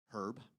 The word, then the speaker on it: Herb: I'm assuming he pronounces the H, Herb, and not Herb Tyson.